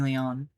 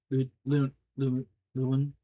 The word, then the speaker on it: Lewin: It takes a moment for me to remember how it's pronounced because I have to say lieutenant in my brain in order to figure it out.